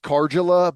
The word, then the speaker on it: Karjala: Yeah, I know someone with the last name and it's pronounced Karjala, but Oh, I don't know if that's unique to is their it spelled family.